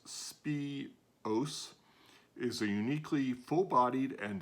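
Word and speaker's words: Spìos: right good morning spiros scots gaelic for spice and pronounced spi os is a uniquely full-bodied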